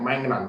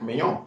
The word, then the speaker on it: Maignan: That's exactly how the name is pronounced. Mike Maignan. In English, we have Mike Magnan, but it's Mike Maignan.